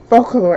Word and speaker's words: Focallure: Why am I pronouncing it wrong? Focallure.